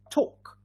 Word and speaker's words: talk: walk very good with these two words l is silent so talk and walk yeah yet another example